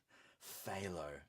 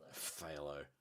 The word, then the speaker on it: Phthalo: Phthalo. That's right. The PH is silent. Right. Phthalo.